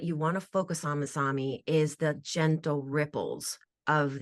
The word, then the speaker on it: Masami: want to focus on Mami is the gentle ripples of the ocean waves not the tsunami the rhymes with your name well that I'm adding